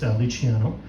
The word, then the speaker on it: Luciano: But you'll notice my name is Italian. It's properly pronounced Luciano.